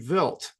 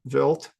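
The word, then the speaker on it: Wild: mission to Comet 81p vilt that's how it's pronounced the German name vilt uh this is another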